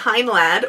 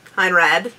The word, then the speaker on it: Heinlad: first Transformers review yay today we've got hin lad or hin rad depending on uh how you want to pronounce that L um he is really